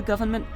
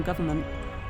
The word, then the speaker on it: government: When a new drug is being prepared for government... why did I pronounce the N in government?